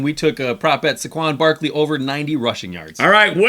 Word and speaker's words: Saquon: It's Saquon.